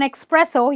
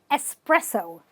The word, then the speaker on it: espresso: any other coffee shop do not order an espresso you won't get it okay but you will definitely get an espresso espresso the ex is said as an s okay now there are